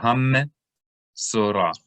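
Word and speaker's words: מצורע: So anytime you see a shava in the middle of a word and the letter on top of it has a dagesh, a dot, then you can know that shava should be vocalized, even though it's in the middle of the word.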